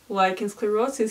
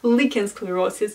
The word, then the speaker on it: lichen sclerosus: name is Maria and we are talking about lichensclerosis here and yes I'm so sorry in literally every previous video I was calling this disease licensed sclerosis because I was absolutely 100 sure that that